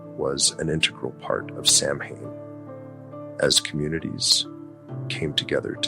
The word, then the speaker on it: Samhain: They celebrated Samhain, pronounced Samhain, marking the end of the harvest and the onset of winter, a season often associated with death and the supernatural.